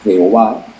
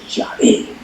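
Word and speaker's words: Yahvé: estender pero aclaro Que Jehová no es la pronunciación correcta de las cuatro letras sagradas las cuatro letras sagradas se pronuncia como yavé yé se traduce yo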